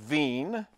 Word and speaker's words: Wien: All right the next one then is Wien's law, I know it looks like Wien, but it's pronounced Wien.